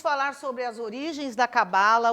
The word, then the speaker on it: cabala: é um tema chamado cabala cabala ou cabalá como dizem os judeus os judeus chamam de cabalá pela sua pronúncia mas nós chamamos de cabala a mesma coisa é